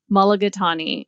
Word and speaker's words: mulligatawny: Mulligatawny.